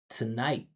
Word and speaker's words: tonight: Tomato tonight. You see that space I created tonight, right? I created pitch, but I also amplified tonight. So that that stress vowel is obviously different than to to.